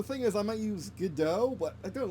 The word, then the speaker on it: Godot: is I might use Godot, but I don't like Godot, or Godot, as it's phonetically, it's how it's actually spelled, Godot.